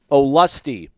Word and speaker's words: Olustee: pronounce her with like oh and then lusty okay there we go